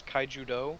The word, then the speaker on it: Kaijudo: are mispronouncing it I think it's Kaijudo like Judo but with Kaiju in it yeah yeah I think